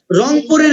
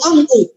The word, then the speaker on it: রংপুর: আবার তুমি যদি এখান থেকে রংপুরে যাও, রংপুরের লোক কিন্তু আবার রয়ের উচ্চারণ করতে পারে না, যদিও তাদের এলাকার নাম হলো রংপুর, তারা বলে হলো অঙ্কুর।